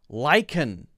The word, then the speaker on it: lichen: balmoral one anemone balmoral kitchen lichen it's a k sound laundry laurel kitchen lichen